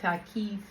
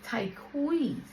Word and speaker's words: Tyquise: They called me Takis. And I was just, oh my God, this shit. But I was like, okay, fine. They just don't know how to read. Cause clearly you can see my name is spelled Tyquise. Not Takis, not Taisha. None of that. It's Tyquise.